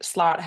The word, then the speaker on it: Slott: So, to introduce myself, my name is Slott is how you pronounce my long and complicated last name.